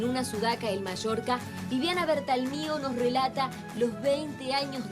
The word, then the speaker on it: Bertalmio: ¿Cuál es la forma correcta de pronunciar tu apellido? Bertalmio.